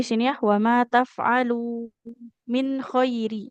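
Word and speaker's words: مِنْ خَيْرٍ: Di sini ya wa ma taf'alu min khairi. Jadi gak boleh min, kalau nun sukun bertemu kho itu dibaca nunnya jelas ya, tidak ikhfa.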